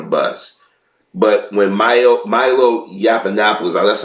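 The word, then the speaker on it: Yiannopoulos: But when Milo Milo Yapanopoulos, that's how you pronounce his name, came in here, he came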